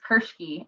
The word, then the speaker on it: Kirschke: Kirsch cool I suppose how do you say your last name that's kind of funny it's Kirksey and believe you're not